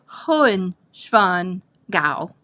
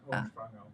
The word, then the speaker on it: Hohenschwangau: Okay, this castle is Hohenschwangau. I'm not saying it right. Ben runs some, Germans mush their words all together, so Hohenschwangau. That's very close. Hohenschwangau.